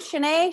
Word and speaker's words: Shanae: so um hi everybody i'm shanae that's how you say my name shanae shanaenae um uh i'm